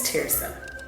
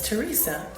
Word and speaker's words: Terysa: Hi, my name is Tirsa. Most people think that my name is Teresa, but it is actually pronounced tear, like a teardrop, and then some.